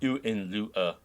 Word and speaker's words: Hohenlohe: Yeah, I Googled the pronunciation in German. And there's some guy like Hohenlohe. Yeah, Hohenlohe. Okay. Yeah, I would have said, like, Hohenlohe or something like that. Yeah. You know? But it's Hohenlohe. Apparently the German. I'm trying to do the German pronunciation for everything.